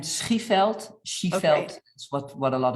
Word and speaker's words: Schieveld: Well, it is Eikelenboom, like Eikelenboom. and Schieveld.